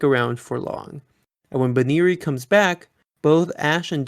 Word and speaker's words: Buneary: this episode does kind of establish the correct pronunciation which is more like banari but i might just switch to the other